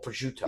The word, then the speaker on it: prosciutto: I was like, okay, Gab, that's what American people call prosciutto. Yeah. And she's like, they don't even pronounce it right.